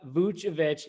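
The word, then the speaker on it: Vučević: Everyone knows who he is, just pronouncing his name right. Nikola Vucevic, nicknamed Vooch.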